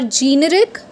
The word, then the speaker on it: generic: So let me tell you the real pronunciation of this. Till now you could have said it generic or generic. No, not any one of these, right? The real pronunciation is generic. Yes, it's generic.